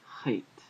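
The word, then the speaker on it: חית: In modern Hebrew, Chet is pronounced Ch, Ch, Ch. It's sort of like you're clearing your throat.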